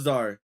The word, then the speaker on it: Czar: Yeah, it was Czar. The C is silent too as well, by the way.